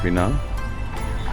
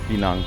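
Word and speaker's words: Pinang: Court আরকি দিওয়ান শ্রী পিনাং এটা পিআই লেখে আমরা পিই বলি সেজন্য ওদের উচ্চারণটা পিনাং আমরা পেনাং বলে থাকি স্টেট আর্ট গ্যালারি এখানে এসে গেছি এসপ্লানেট এরিয়ায়।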